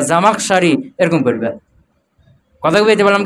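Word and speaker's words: الزمخشري: করো জামাকসারি একটা নাম অনেক লম্বা না এখন জামরি সারি পড়বে না জামাকসারি পড়বে হালকা না দিলে বুঝা যাবে কি সঠিক নামটা উচ্চারণ হবে কি নামটা অনেক বড় না জামাকসারি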